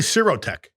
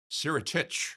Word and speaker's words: Sirotich: Sirotich. Sirotich. Sirotich. Yep. I have to pronounce that.